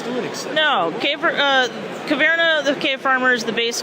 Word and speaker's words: Caverna: Caverna, is that the pronunciation of Caverna?